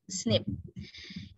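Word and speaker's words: SNP: is a term namely single nucleotide polymorphism or snip we usually pronounce it snip it is a type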